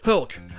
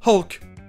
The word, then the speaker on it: Hulk: Ok, passons à Hulk, ou comme c'est prononcé en anglais, Hulk, avec le H aspiré et le son E que l'on peut trouver par exemple 2 fois dans Shut Up. Hulk. Hulk.